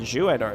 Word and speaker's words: Juenor: By the way, that is how you pronounce it. I asked Char years and years ago. I was like, how do I actually say this word? And that's how he says, Juenor. So that's how you say it.